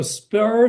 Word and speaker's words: Sbur: But it's not spelled as SPUR, it's spelled as SBUR.